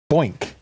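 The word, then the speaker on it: Boynq: And the first two are from the same company, a company called Boink. Boink. Yeah. Boink. Boink. Out of Europe. That's spelled B-O-Y-N-Q.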